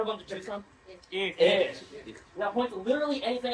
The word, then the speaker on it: ich: Ish.